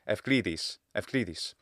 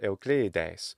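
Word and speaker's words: Εὐκλείδης: and how it's pronounced monogreek pronunciation afgridis but in the illusion pronunciation which represents that roman classical period roughly of 100 bc to 200 a.d but of course as a convention can work for the whole span of ancient greek by design it is but what is it and actually that arkhan's time and nucleus time how did he say his name almost certainly was something more like euclides so the first epsilon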